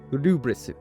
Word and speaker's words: Lfrith: So I'm going with the pronunciation from the anime, which is Gundam Rubris, which doesn't really reflect what's on the box.